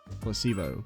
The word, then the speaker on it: placebo: to our vocabulary today repeat after me Placebo the stress is on the middle syllable Placebo Splendid it's so Charming